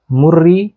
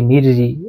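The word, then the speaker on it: مري: বিন শারফ বিন মুরি এইটা উচ্চারণ কি হবে মুরি নাকি মিররি এইটা নিয়ে একটু আলাপ আলোচনা আছে এ কোন কোন আলেম জের দিয়ে পড়েছেন কেউ পেশ দিয়ে পড়েছেন পেশটা নিয়ে বেশি পেশটা বেশি পরিষিত বিন মুরি বিন হাসান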